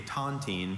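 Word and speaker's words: tontine: In a sentence, in the days before a central bank or common currency, villagers often used a tantine to share ownership of property.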